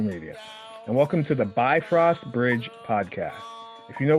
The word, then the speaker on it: Bifrost: first let's talk about that some pronounce it be frost some pronounce it bifrost or bifrost really quick uh and I'm going with bifrost which may not sound different to some of